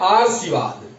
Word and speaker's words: आशीर्वाद: फिर वा और द, तो इसका उच्चारण हो जाता है आशीर्वाद।